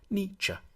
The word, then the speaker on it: Nietzsche: to pronounce his name the first bit should sound like me the second like cha Nietzsche then we need to